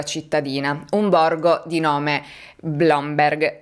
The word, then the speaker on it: Blomberg: un borgo di nome Blomberg la cui pronuncia sembrava tanto semplice ma in realtà sarebbe tipo bloomberry a circa 45 minuti di